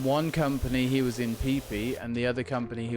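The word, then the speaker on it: Phi Phi: of my stuff was legit it's the name fifi is how it looks p h i p h i p p that's how it's pronounced it's like the the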